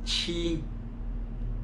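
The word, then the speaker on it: 七: pronuncia como leo leo el 7 se pronuncia como sí sí el 8 se pronuncia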